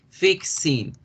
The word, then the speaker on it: fixing: ing por qué razón acordémonos que la equis es como si pronunciáramos una acá y una s ya se las voy a poner ahí de bajito para que se acuerde fixing que es por qué